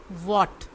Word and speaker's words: what: ये जो पहला वर्ड होगा वो है वॉट, WHAT, इसमें जो H है वो साइलेंट है।